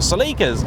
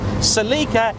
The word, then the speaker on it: Celica: And to any Americans out there sharpening their keyboards, yes, Celica is how pretty much every British person has ever pronounced that name. I've never met a person from these sainted shores who's called it a Celica.